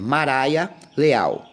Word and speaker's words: Mariah Leal: abraço do Pastor Alex me perdoa por ter pronunciado o seu nome errado é Mariah Leal tá E a sua